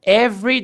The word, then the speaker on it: every: Every day, every. Esse E não pronunciamos.